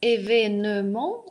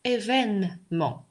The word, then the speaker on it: événement: И точно так же слово événement произносится словом, я сказала первый раз, événement, а сейчас événement. То есть вот эту вот «ё», которую здесь я написала, я ее сейчас не произношу.